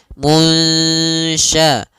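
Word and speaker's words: المنشآت: Nah, caranya adalah kita samarkan nunnya kepada huruf syin munsya. Munsyaatu ya samarkan kepada makhraj huruf syin langsung.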